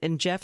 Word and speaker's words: Geoff: is a book by Jeff Smart. And Jeff is spelled Geoff.